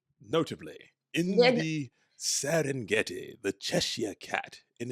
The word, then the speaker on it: Cheshire: Cheshire cat has the Preshire cat, and I would have missed that. I'm still saying it wrong. Please, Spessy, do not. It's Cheshire cat. Cheshire.